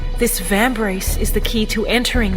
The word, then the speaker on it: Vambrace: give me a break from reading and I pronounce the title correctly it is vambrace so there is a significant amount of depth